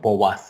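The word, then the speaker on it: Poisson: qué bueno y ahí sale la pronunciación houas somos como si tuvieras espejo una w por allá es francés este nombre esté en la distribución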